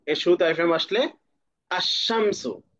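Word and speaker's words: الشمس: যেমন শিন, এর শুরুতে আলিফ লাম আসলে আশামসু, এখানে লাম আছে মাঝখানে কিন্তু লামের কোনো উচ্চারণ নেই, এটা সাইলেন্ট আছে, বরং লামের পরবর্তী শব্দের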